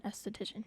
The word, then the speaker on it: esthetician: Yeah, like aesthetics, and if you do aesthetics, you are an esthetician.